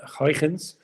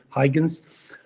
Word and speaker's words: Huygens: Around that time, there was a Dutch scientist, Christian Huygens, or as we like to pronounce it in English, Huygens, and he was convinced